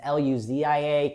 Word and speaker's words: Lucia: We were really set on Lucia really quick, and it's Luzia.